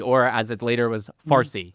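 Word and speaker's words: فارسی: Parsy or as it later was Farsy because the Arabs could not pronounce the P so it became Farsy.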